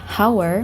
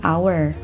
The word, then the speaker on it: hour: huruf konsonan akal tetapi cara pengucapannya bukanlah hours melainkan our Oleh karena itu dikarenakan